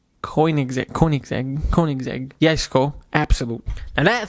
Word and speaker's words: Koenigsegg: more and I don't want to say the name wrong because as people in the comments man I'm not Koenigsegg coin exactly Koenigsegg yes cool absolutely now that thing comes with